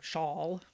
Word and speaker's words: sjal: It is spelled SJAL. So if you're searching shawl, you won't find it. But it's Lindal, Lindal, shawl, SJAL. I think that's how you pronounce it. I could be totally wrong. So I'm gonna see if